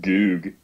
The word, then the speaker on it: Goog: Goog. Rhymes with boob.